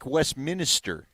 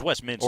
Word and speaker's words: Westminster: who's kind of like you driving the show pronouncing everything correctly yep cray nope not exactly crayon cray cray crayon cray it's like Westminister it's Westminster or Westminster or February not February Arvada or